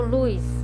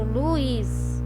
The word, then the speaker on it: Luiz: Eu não falo luz, eu falo Luiz, ok?